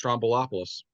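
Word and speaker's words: Stroumboulopoulos: George Strombolopoulos.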